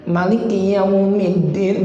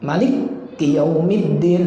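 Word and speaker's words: مالك يوم الدين: Tapi kalau Malik Yaumiddin, nah itu salah. Malik Yaumiddin, ya salah. Nggak boleh, nggak sah.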